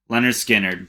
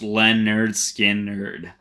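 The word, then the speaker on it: Lynyrd Skynyrd: we're talking about none other than the classic leonard skinner pronounced len nerd skin nerd awesome awesome record so free bird tuesday's gone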